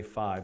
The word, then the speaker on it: phi: Greek letter fee correctly I know some people say five but I think it's actually fee so great I'm gonna